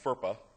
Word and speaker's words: FERPA: It's pronounced FERPA.